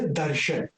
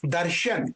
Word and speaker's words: दर्शन: इट is called दर्शन। कोई आप दर्शना कहते हो, ना नहीं कहना है, दर्शन, ए को यहां पे साइलेंट रखना है।